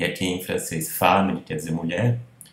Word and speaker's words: femme: Além de ser pronunciado como A, a sequência ENN, que se é pronunciado como A, ela é oral, porque é seguida de uma consoante nasal. Termina com consoante nasal.